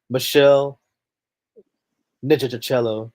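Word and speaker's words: Meshell Ndegeocello: If you're going um Michelle Michelle N Joachello, there you go. That's how you pronounce her name. Yeah. Michelle Nachello.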